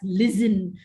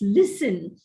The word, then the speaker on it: listen: is not realized now this word listen most often is pronounced by indians as listen with a z sound which is incorrect it's listen where they have to use the sound in the word hesitate just because there is